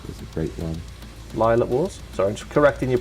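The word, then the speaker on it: Lylat Wars: like yeah or rainer time ocarina of time lilac wars is a great one lila wars sorry correcting your pronunciation on this yeah wipeout 64.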